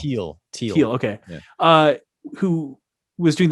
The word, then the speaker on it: Thiel: I guess I've never actually heard his name pronounced. Thiel.